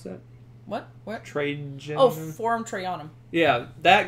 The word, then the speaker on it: Trajan: How do you pronounce that? What? Trajan.